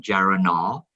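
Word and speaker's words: geranylgeraniol: I know it's GG, but we'll get the correct pronunciation. GG is geranol. So it's actually two molecules of geranol together, geranol.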